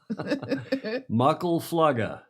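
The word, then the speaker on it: Muckle Flugga: Mucklefluga is how I'm told that's pronounced.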